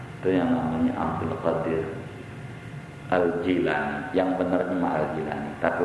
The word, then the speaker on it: Al-Jilani: Udah enak Jailani, tapi jujur aja salah itu. Salah. Yang bener Al-Jilani, jimnya kasroh bukan fathah.